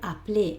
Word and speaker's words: appeler: Acuérdate que el verbo appeler en el infinitivo lleva una sola L. Por eso esta E es como nos pasa como antes, ni la pronuncio, ¿vale? No digo appeler, sino appeler. ¿Por qué? Porque hay una L, ¿vale?